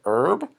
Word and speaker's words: herb: e means herb ok herb we don't pronounce the H other herbs include mint